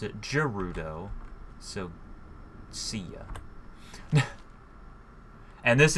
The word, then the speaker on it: Gerudo: kuru though and I know it's actually officially pronounced Gerudo but I pronounce it Gerudo so see ya and this is actually this